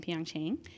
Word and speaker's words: Pyeongchang: And so this year it was a record 15 LGBTQ athletes at the 2018 Winter Olympics, right, in Pyeongchang.